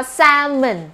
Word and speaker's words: salmon: เรา ต้อง อ่าน ว่า salmon นะ คะ คำ ว่า สร้าง แม่น เด็ก รู้ ใช่ ไหม ว่า ตัว L ตัว ยัง ไม่ ได้ ออก เสียง นะ คะ เป็น ทราย